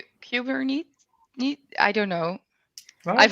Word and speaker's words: Kubernetes: In Dutch, you say Kubernetes. I've heard. We'll go with Kubernetes. Yeah. This is now the official pronunciation.